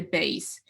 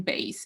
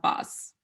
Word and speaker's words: bass: to mean an instrument you will not say pass you will say base so the spelling is same b-l-s but when you're pronouncing you're saying bass it's not buzz so yeah sometimes we